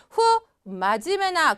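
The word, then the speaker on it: 不真面目: 자 안니 불자가 붙으면 원래 이거를 후라고 읽기도 하고 부라고 읽기도 하는데 그냥 부라고에서 그냥 있는 경우도 있지만 보시는 것처럼 어떻게 후라고 읽어서 좋지 않은 또는 하지 아는의 뜻을 나타낸 경우도 있습니다 그래서 후 마지메나 그러면 마지메가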